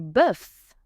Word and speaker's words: bœuf: Du bœuf. Du bœuf. Beef. Same as an egg, letter O is silent.